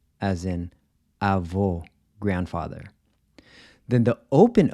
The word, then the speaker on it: avô: So the closed O is pronounced O, kind of like the O in cold, except you cut it short. O, as in avô, grandfather.